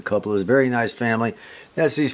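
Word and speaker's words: Kauppila: I believe it's pronounced Coupolas. It's K-A-U-P-P-I-L-A. I believe it's pronounced the Coupolas.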